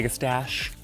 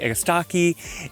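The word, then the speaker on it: Agastache: So this is the anis hissip or the agistaki blue fortune. Um some people say egustache, some people say egastaki. You know what? Doesn't matter quite how you pronounce it as long as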